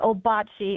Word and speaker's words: Ouabache: But then in 1962, we got that name, Obachi. And that's how the DNR does pronounce it. We pronounced it that way pretty much since 1962. And it's a French spelling for the Miami Native American word for the Wash River.